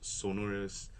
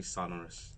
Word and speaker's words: Sonorus: Yeah, actually a lot of people have a mispronunciation of Sonorus, Sonorus, but it's actually Sonorus.